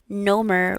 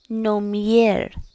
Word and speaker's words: номер: But with this, something to pay attention to is it's not nomer, like rhyming with Homer Simpson. It's nomier. Nomier. Nomier. Nomier. Nomier. Nomier. So remembering that little Y sound.